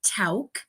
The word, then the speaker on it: Tauck: So that is the family's name, and it is pronounced Tauck.